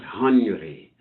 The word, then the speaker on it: Henry: Ariel, what they call Henry is how it's spelled in American English, but Henry is how they say it in France, I guess.